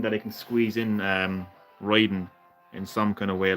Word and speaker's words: Raiden: So it is Raiden.